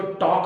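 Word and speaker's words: talk: गलत हो जाती है जैसे टॉक है टी ए एल एल हमारा साइलेंट है इसको ड्रॉप करना है तो टॉक बोलना इसको टॉल बोलेंगे वा को वाल बोलेंगे तो सेंटेंस गलत जैसे हैंडसम है डी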